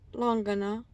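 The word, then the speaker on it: langhana: of haa Yoga practices Brahman longana and Sal all accented on the first syllable I'm going to be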